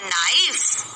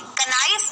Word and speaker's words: knife: शब्द ऐसे होते हैं, अगर आपको लिखना है नाइफ तो आप के लगाते हैं शुरुआत में, कनाइफ नहीं बोलते. कनाइफ नहीं बोलते ना, आप क्या बोलते हैं? नाइफ. लेकिन उसकी स्पेलिंग क्या होती है? KNIFE. यहाँ पर के साइलेंट है, मतलब इसका उच्चारण आपको नहीं करना है.